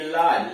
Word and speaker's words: lodge: LODGE लाज, लाज ठहरने का स्थान, LODGE लाज ठहरने का स्थान। जी का उच्चारण ज या ग होता है।